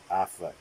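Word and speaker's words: Auchinleck: was carefully careful to pronounce the word as as though spelled Affleck as possible as possible tells us so to where sir Affleck I repeated and the man seemed dazed finally spelled it out in a uch I am le CK ah sir och Allah it in gutturals and types will not reproduce and would be to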